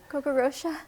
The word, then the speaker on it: Coco Rocha: So it was, I don't know how you pronounce the name in New York? Coco Rocha.